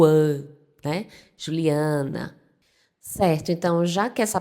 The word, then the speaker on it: Juliana: Ele vai ser pronunciado Juliana. Ele abre esse som do A. Enquanto a gente fala Juliana, eles falam Juliana. Notou a diferença?